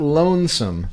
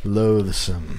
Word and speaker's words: loathsome: of the song yeah Lowe's not Lonesome loathsome it's like it's like you're saying oath but loath means like a person who causes like hatred or disgusting yeah loathsome you gotta say it like that loose God alone